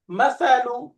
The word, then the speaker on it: مثل: হুয়া হুয়া এরপরে مثل মাসালু শেষে দম্মা মাসালু। মাসালু মাসালু মাশাআল্লাহ বানানটা কি হবে ميم فتحة ما تا تا فتحة ثا لام ضمة না لو দুইটা একসাথে মিলাইতে হবে